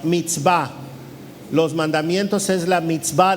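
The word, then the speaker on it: מצווה: habla de los mandamientos usa una palabra que se pronuncia meet va los mandamientos es la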